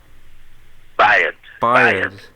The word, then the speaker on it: Bayard: And then I cannot never pronounce the name. Is it Bayard Lancaster? Bayard.